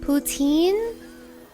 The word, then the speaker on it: poutine: Poutine? No, the French pronunciation is poutine. It is a French dish.